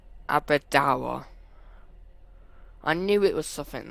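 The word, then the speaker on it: Aberdour: leave the train okay so it looked like I said it wrong it's Abida I knew it was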